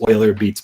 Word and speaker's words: Euler Beats: It really started with Euler Beats, or it looks like Euler Beats, but I think the correct pronunciation from the devs there is Euler Beats.